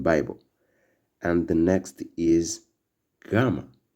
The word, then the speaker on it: gamma: And the next is gamma, which sounds like G in gone.